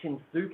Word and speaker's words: Shinsuke: But if the U is silent in Shinsuke, then why is it not silent in Nakamura?